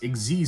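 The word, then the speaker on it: Xyz: Exiz summoning. Yes, that's how you pronounce it.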